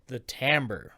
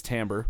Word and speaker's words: timbre: It has the timbre, not the timber. The timbre. It's spelled timber. It's not timber. It's timbre.